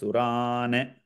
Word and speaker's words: सुरान्: सुरान् समस्तान् प्रणतान् सुरान् Whenever a halant is there, it should be pronounced as Surane, like that.